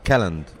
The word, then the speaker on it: Calland: No, però devi dirlo bene. Kellan. No, Calland. Calland. Vabbè, bravo.